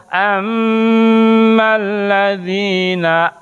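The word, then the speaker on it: أما الذين: Nah, dalam kaidah tajdid ketika ada mim ditasdid atau nun ditasdid, bacanya harus ditahan dulu. Ammal, tidak gini. Ammal ladzina, tidak gitu. Tapi ditahan dulu. Ammal ladzina amanu wa 'amilus solihat.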